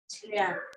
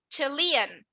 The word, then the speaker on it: Chilean: Chilean. Chilean. Chilean. Chilean. Chilean. Acuérdense que en inglés yo pronuncio esto Chilean. como I, entonces no voy a decir Chilean, voy a decir Chilean.